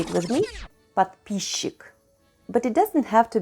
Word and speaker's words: подписчик: In this case, the combination of letters S and Ch is not pronounced phonetically as sch, but is pronounced as sh instead. Say it with me, подписчик.